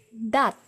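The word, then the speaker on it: දත්: Teeth is dat, dat.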